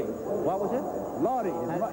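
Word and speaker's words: Lawdy: No, Lottie. What was it? Lottie. How do you spell that? Well, I guess L-A-W-D-Y, but his mother couldn't say Lawrence. She called him Lottie.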